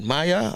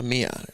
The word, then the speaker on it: Mia: So I'm going to say, I know it's not Maya. Oh, Mia. They say Mia. Because some people pronounce this as Maya too as well. So it's Mia Motley. Mia Motley, yeah. Because I know a young lady, her name spelled the same way, and they call her Maya. They spell it with a M-I-A and not a M-Y-A. So they call her Maya. So it's Mia for her, right?